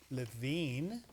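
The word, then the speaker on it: LaVeen: one from LaVine Arizona LaVine look at that LaVine and it's spelled phonetically yes that's from somebody named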